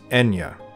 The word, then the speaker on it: Ethniu: instrumental figure in it his mother is ethno pronounced today as enya the same mother as